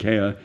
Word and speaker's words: Kerr: My name is pronounced Kerr by some people, but it's Kerr in Scotland.